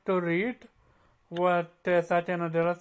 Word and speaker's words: Satya Nadella: Zero, would you like to read what Satya Nadella said?